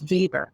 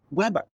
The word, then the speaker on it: Weber: And then the professor says at some point, a very common mistake is for people to pronounce Weber as Weber. And I was like, oh my God, like light bulbs went off right in my head because it is spelled Weber, like the grill.